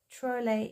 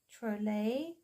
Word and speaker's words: Trolle: I normally pronounce it Maria Trolle. And I remember the one video I put where I was talking about Maria Trolle. I mentioned I wasn't sure about the pronunciation, and I had someone with a Swedish background mention, and I stand to correction on it, that Trolle is the correct pronunciation. So I'm hoping it's the correct pronunciation. As far as I'm aware, it is Trolle.